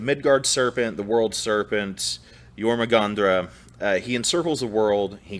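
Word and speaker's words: Jörmungandr: a grain of salt the pop proper uh pronunciation is yormangandra so there's the midgard serpent the world serpent yormagandra he encircles the world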